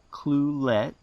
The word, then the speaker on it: Ucluelet: as ukee by the locals and it is pronounced you ucluelet which is a local first nations word meaning safe harbor ucluelet is about 180 miles from the city of